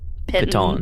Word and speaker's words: piton: How we decide that's pronounced? Pitons or pitons?